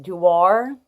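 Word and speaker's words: Dior: but this is now I believe it's pronounced duar d-o-i-r so yeah I got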